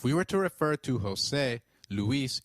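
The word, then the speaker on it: José: The letter J sounds like H in Spanish. So try saying Jose. It is Jose.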